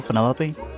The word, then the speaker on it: Penelope: delightful penny pointer pleasure is that short for penelope officially yes but i never can be bothered with all four syllables of it penelope sounds a little